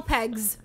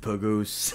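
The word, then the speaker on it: Pegues: __ ] shotgun Colonel pegs Jesus Colonel pegs yeah chees he has peg legs it's p e g u e s pegs p peggies p p it's pronounced pagus P yeah imagine he's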